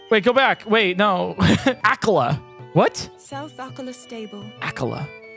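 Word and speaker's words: Akkala: No doubt Akala owes thanks to the quick thinking of soldiers from the Citadel for this.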